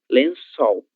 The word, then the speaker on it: lençol: Lembrem-se que o ccedilha ele apresenta o mesmo som da letra S do espanhol. Independente do contexto em que ele apareça, ele sempre vai apresentar o som s lençol.